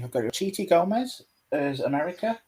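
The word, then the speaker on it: Xochitl: my pronunciation, I've got Chiti Gomez as America. It's such a weird pronunciation because it leaves out most of the letters. It's something like Sochi, which is like, It's nothing like it's written.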